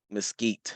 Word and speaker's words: Mesquite: See what I can find on Mesquite.